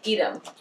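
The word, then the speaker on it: Edam: Oh, speaking of pronunciations and pronouncing things correctly, Deb let me know that E-D-A-M is pronounced like Edom. Apparently she has visited the city of Edom, and that is how it is pronounced.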